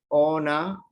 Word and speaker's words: on average: Ona, la N en pronunciación, la N se junta con la A. Ona.